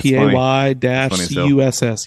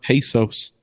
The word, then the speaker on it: Pecos: Yeah, spelled PAY-CUSS. Yep. Yeah. And I've heard a lot of it. I mean, even at that Tortuga Fest, I heard pesos.